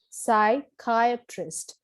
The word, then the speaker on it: psychiatrist: poem this word is psychiatrist psychiatrist where the stress is on the second syllable which means a person